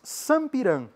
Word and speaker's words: sampiran: formam a imagem inicial, são chamadas de baris sampiran.